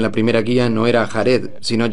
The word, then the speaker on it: Jared: De hecho, en la primera guía no era Jared, sino Jaired. No sé si algún día sabremos exactamente cómo se pronuncia, pero debemos seguir lo acordado, para que todos sepan de quién estamos hablando.